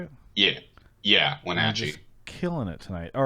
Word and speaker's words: Wenatchee: Yeah, I'm Wenatchee.